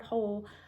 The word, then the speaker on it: whole: that says what right but that W is silent in this word okay this is the word whole like I'm going to